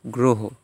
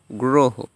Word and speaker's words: গ্রহ: আমরা কি গ্রহ বলি না, আমরা বলি গ্রহ, গ্রহ। শেষে উচ্চারণটা ওকারান্ত হয়ে গিয়েছে।